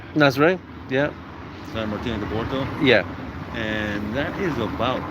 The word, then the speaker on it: Porto: Sao Martinho de Porto.